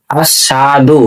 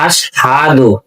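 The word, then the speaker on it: أشهد: আশহাদু, আশহাদু না, আমরা অনেকে পড়ি আশহাদু, সাধু না, আশহাদু।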